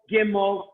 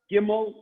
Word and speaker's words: gimel: understand okay next the letter gimel okay please pronounce gimel I know you're all muted but please seguimos five-time demo I'm looking at your mouth Tim all gimel gimel gimel okay now once again maybe I'll